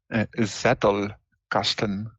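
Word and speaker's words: Zettelkasten: that Z cast how do tell me how pronounce this word word again zettle Casten Z yeah it's a German word zast yes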